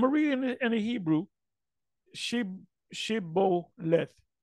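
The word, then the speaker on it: Shibboleth: Then said they unto him, "Say now," and I'm a reading in the Hebrew, Shiboleth. And he said, which was an Ephraimite, Siboleth, for he could not frame to pronounce it right, dialects.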